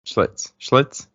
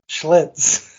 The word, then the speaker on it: Schlitz: I didn't even know how to say it. Schlitz. Oh yeah, I watched all the commercials. I know called Schlitz. Yeah, it was just a little mix-up of the L and the I there.